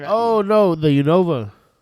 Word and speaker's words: Unova: The Unova. I call it Univa. Oh, interesting. I've never had it pronounced that I always knew as Yova.